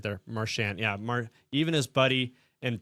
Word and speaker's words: Marchand: Even his buddy, and I'm pretty sure I said it right there, Marchand.